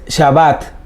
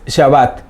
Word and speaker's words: Shabbat: en el hebreo el día de reposo es Shabbat, ¿sí? S-H-A-B-A-T, más o menos así se escribe siempre. Hay gente que lo escribe con W, gente que le pone otra H, pero más o menos es Shabbat.